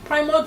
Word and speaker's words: PRIMORG: PRIMOG is spelled PRIMORG, and we are streaming live on Facebook at Official PRIMOG.